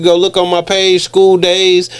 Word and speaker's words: Skoo Days: Now he's saying Skoo Days, but spell it out. So SKOODAYS. Okay, that's SKOODAYS. Exactly. So y'all won't put school. Yeah, like school, like it's school, like Skoo, SKOODAYS, and